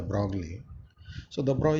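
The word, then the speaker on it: de Broglie: manner there was a hypothesis by the broad which you people know commonly pronounces the broccoli so the brow said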